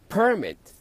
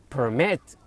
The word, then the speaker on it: permit: الاسم ينطق permit، الفعل permit. لاحظوا التشديد فين.